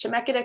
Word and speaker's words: Chemeketa: It's a hard word to say. When you just read it, you don't know how to pronounce it, but it's Chemeketa Community College in Salem.